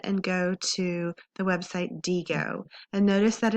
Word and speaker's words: Diigo: your tutorial on how to use the website Deo to save websites that you're going to need